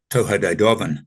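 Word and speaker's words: Tuatha Dé Danann: In the actual Celtic, the it's spelt Tuatha De Danann, but it's pronounced, I think, Toha De Dovan.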